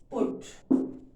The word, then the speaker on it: put: जैसे for example हम बोलते हैं BUT बट, इसको हम बट बोलते हैं, और PUT को क्या बोलते हैं, पुट।